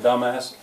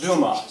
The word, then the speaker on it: Dumas: If you mispronounce his name, you come up with dumbass. And one of the convicts says, "Hey, look, here's a book written by a guy named Dumbass." Well, it's Dumas, silent S.